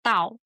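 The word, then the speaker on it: 倒: Because upside down is Dao, which has the same pronunciation in Chinese as arrival.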